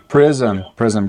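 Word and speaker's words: Prizm: How you pronounce that? Is it Prism, gotcha.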